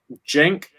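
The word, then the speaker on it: Cenk: name one more time jenk that the spelling is c-e-n-k like the same last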